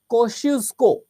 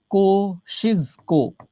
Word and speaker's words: Kosciuszko: जो सबसे ऊंची चोटी है उसका नाम है कोशिस्को, ठीक है, माउंट KOS, इसकी स्पेलिंग क्या होगी? KOSCIUSZKO, USZKO। कैसे कैसे नाम रखते हैं यार। कोशिस्को, ये है इसकी स्पेलिंग, कोशिस्को।